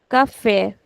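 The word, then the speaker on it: café: So I am actually putting stretch on the last syllable which should never be the case. But I have an accent there. I have an accent to agu So I'll have to put the stretch there.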